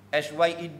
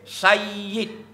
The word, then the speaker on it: Sayyid: SYED itu sebenarnya salah. Tak tepat. Yang tepat SAYYED. Okey? Sayyid. Y itu dua.